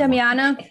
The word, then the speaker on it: Damiana: I don't know how to pronounce that. Damiana.